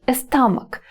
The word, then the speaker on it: stomach: Живот, stomach. Давайте на своих животах пальцем себе и напишем S, T, O, M, A, C, H. І апошнія дві літарки CH вимовляємо як К.